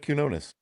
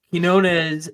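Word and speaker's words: Quiñones: Oh, Joseph Quinones. You nailed it. There you go, Tim. You missed the Enye, but close enough.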